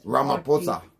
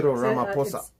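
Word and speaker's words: Ramaphosa: Actually, PH is pronounced with this. Ramaposa. Sir Ramaposa.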